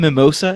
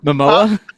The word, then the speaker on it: Momoa: Are we purposely pronouncing his name Mimosa as opposed to Momoa?